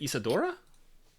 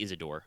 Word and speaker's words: Isadore: So Inos will make his way over to, is it Isadora? Yes, Isadora. Actually, yeah, be Isadore. Isadore. It's spelled with the E.